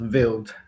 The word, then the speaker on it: Vild: This is John and Vile Comics. Tell us all about what's going on with Vile Comics, because I'm really, really into this. This is great. Okay. Well, it's actually pronounced Vild Comics. Vild.